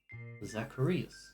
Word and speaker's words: Zacharias: zus and zuras and uh-uh four syllables Zacharias all right and maybe